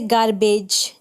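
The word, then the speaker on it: garbage: जैसे गार्बेज, जी ए आर गार, और बी ए फिर जब जी के बाद ई आ गया तो उसे ज पड़ा, गार्बेज। बैगेज, बी ए फिर जी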